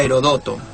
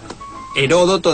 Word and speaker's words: Heródoto: Heródoto sin acento se leería Herodoto. Heródoto debería llevar acento en la O porque sería esdrújula.